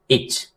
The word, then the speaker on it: itch: जो पहला वर्ड है ITCH, इच। इच पढ़ेंगे, टी साइलेंट है।